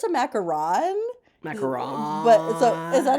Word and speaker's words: macaron: It's not even a debate because it's there's a macaroon and then there's a macaron. But people are constantly mixing up how to say these things. Whenever I watch baking shows, I get really mad when when like bakers, people who are professional bakers call a macaron a macaroon.